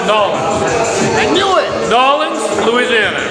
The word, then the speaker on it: New Orleans: It's correctly pronounced Nolens.